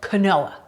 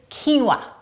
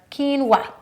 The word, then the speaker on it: quinoa: quinoa they have a tendency to call it Kanoa I totally get it I've been there myself